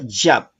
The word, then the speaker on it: Yah: También una contracción del nombre que aparece en algunos salmos, como por ejemplo en el Salmo 115, verso 18, se pronuncia Yab. Es una contracción de Yahvé o de Yahovet.